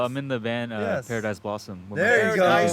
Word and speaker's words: Paradise Blossom: So- Am I saying it right? Yeah, Paradise Blossom.